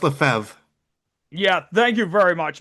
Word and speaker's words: Lefebvre: Although Lefebvre, or did I say that right? Tim Lefebvre. Yep, Tim Lefebvre. I think it's Yep. pronounced Lefebvre.